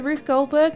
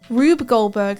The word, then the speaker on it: Rube Goldberg: Isn't that the name of it the Ruth Goldberg machine? Am I saying it wrong? That's what I've heard. Yeah, it had some imaginative stuff, Balan Wonderworld, but then it also had just inexplicably weird stuff that felt very off. Rube Goldberg, thank you.